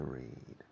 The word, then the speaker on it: read: But the pronunciation of the past tense and the participle is similar to the color red, like this pencil.